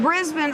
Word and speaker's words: Brisbane: come all the way from Brisbane bris brisban bris been Australia right that's even the correct pronunciation I said it it's right and what